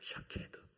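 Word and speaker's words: שָׁקֵד: 히브리어는 처음에는 모음이 없었습니다. 그래서 우리가 샤케드 발음하는 거에 이 앞에 있는 초성문이 자음인데요. 그 자음만 있었어요. 그런데요, 제가 또 한번 발음할게요. 샤카드. 모음을 다 빼면 똑같죠. 시옷, 키옷, 똑같죠.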